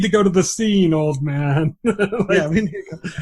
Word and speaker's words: Oldman: at the beginning too, because it's written like Ann Oldman, but every time they call her Oldman, and like several characters like constantly try to say Oldman, but she always corrects them, says it's pronounced Old Man.